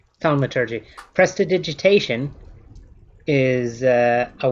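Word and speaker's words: thaumaturgy: I think it's pronounced thalmaturgy.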